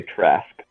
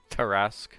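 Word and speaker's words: Tarrasque: Because one of the most deadly creatures in all of the monster book is called a Trask. Tarask. Yeah, Tarask. But Yeah. like, yeah, it's a very Those- similar pronunciation.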